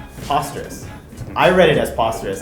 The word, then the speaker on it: Posterous: And my impression is it's pronounced Posterous, right, as opposed to Posterous, which some might say it makes a little bit more sense given that you are a blogging platform.